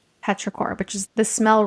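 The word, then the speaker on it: petrichor: Petraor. It's P E T R I C H O R. Petraore, which is the smell right after it rains.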